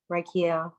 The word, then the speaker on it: Reikiel: It's Reikiel, 3 syllables, 7 letters.